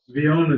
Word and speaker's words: Bion: Vion is actually the correct way to say it.